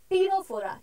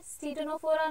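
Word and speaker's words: Ctenophora: सी Coelenterata, T टीनोफोरा, क्योंकि इधर टीनोफोरा बोलते हैं, स्टीटोनोफोरा नहीं बोलते हैं, राइट? सी जो है वो साइलेंट रहता है, तो टी से क्या है, टीनोफोरा.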